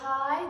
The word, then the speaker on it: high: is high right here so high gh is silent in high energy is silent Fisher